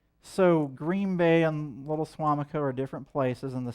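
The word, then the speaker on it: Suamico: in Wisconsin, but if you're here in Little Swimac, is that how you pronounce it? Swamac? Sorry, my bad. I'm not a local. Little Swamac. Swamico.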